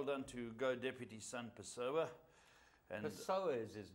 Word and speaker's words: Pessoa: pronounced Pessoa. Pessoa, yeah, Yeah, not so- Paseo.